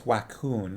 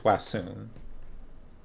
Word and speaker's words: Wacune: I don't think it's Wacoon. I think it's Wassoon.